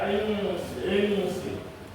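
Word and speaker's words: إنس: Nun mati bertemu dengan huruf sin. Bacanya apa, Pak? Bacanya ikhfa. Apa itu ikhfa? Ikhfa itu dibaca sama. Enggak jelas dia bacanya. Maka dibaca insi.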